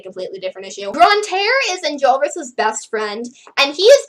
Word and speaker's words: Enjolras: Okay, so for the longest time, I pronounced that guy's name as Enjolras, but now I'm starting to hear people pronounce it as Enjolras, and, like, that does sound more French, so I think that's the actual correct pronunciation.